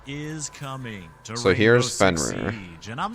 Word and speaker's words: Fenrir: Fenrir, to be feared? It rhymes.